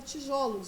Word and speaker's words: tijolos: curados não foi B em alguns substantivos e adjetivos a língua portuguesa quando empregados no plural o som fechado o da sílaba pronunciada computador se transforma assim são aberto ó é o caso por exemplo do substantivo tijolo que e hoje né tijolo vira tijolos não é isso considerando